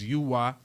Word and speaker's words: Uy: That's UY. I pronounce it Uy.